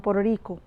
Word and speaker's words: Puerto Rico: have antiphon at see when its medial it's flap T it's pronounced like right so it's poor Oh Rico Puerto Rico this is American pronunciation it's not in general